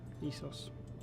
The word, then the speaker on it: Essos: Essos. That's how it's pronounced.